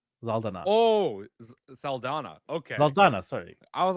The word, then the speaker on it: Saldana: Happy birthday to Zoe Zaldana. Oh, Saldana.